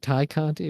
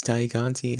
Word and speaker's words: Tay Conti: Is it Thai Conti or Tay Conti? That's the Yeah, debate. it's Tay Conti.